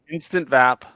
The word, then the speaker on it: Instavap: How do you say that? Instavap or is it instant vaporizer? It is instant vap.